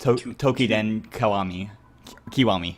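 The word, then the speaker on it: Toukiden Kiwami: Yeah, it's pronounced Tokiden Kiwami, sorry.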